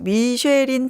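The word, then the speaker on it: Michelin: 사실은 그 미슐랭은 우리가 잘 아는 그 미쉐린 타이어 있죠. 예. 그 울퉁불퉁한. 예. 이 미쉐린의 불어 발음이 미슐랭인가요? 맞아요.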